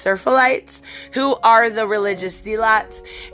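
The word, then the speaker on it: Seraphites: And then we do get a little bit more insight when it comes to the Scars, I believe it is pronounced Serphalites, who are the religious zealots, and at one point they are described as freeing somebody, which is, killing them.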